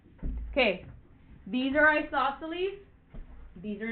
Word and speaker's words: isosceles: uh oh wait hold on uh this is pronounced isosceles isosceles okay Oh cross this one out lightly